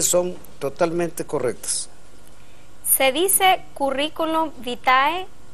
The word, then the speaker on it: currículum vitae: suenan pero gramaticalmente son totalmente correctas se dice currículum vitae o currículum vitae como lo tienen en su